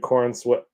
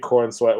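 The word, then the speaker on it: Corenswet: David uh David Corweat is how you pronounce it.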